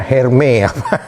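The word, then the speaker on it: Hermès: Ada yang pakai tas apa, bacanya bahasa Prancisnya Hermes. Hermes.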